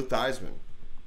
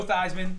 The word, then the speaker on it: Theismann: probably say Joe Theismann. Oh, Because wow. he's. The guy changed his name to rhyme with Heisman.